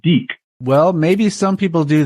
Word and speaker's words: deke: Oh yeah, you just say D and you put a Q at the end of it, and it's Deke.